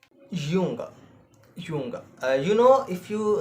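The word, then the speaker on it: Junge: the word boy but in German we said yunga Yung you know if you uh watch the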